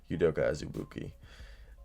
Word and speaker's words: Azubuike: And then it's Udoka Azubuike. I don't know why I'm screwing up. I literally go to school at KU and I know how to say it. Udoka Azubuike.